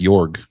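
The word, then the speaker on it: Joerg: can't pronounce his name it is j-o-e-r-g is this it sounds like York maybe York yeah so is this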